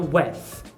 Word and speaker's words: with: A palavra with, ela vai vozear. O que é isso? Você tem aqui a dental desvozeada. A pronúncia mais comum dessa palavra é com a dental desvozeada, então with. Ou seja, você coloca a língua entre os dentes e dá uma sopradinha.